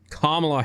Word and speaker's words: Kamala: So we've got Joe Biden as the now official Democratic nominee, and we've got Kamala Harris. Remember, it's pronounced Kamala, not Kamala.